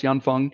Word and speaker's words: Yanfeng: something that's pretty popular turns out it's yanfeng um funny story as to how to mispronounce that that leads because yanfeng is actually a chinese set of words right yan and fung uh if we have